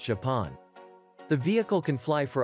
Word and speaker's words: XPeng: The company calls it XPeng, pronounced Japan.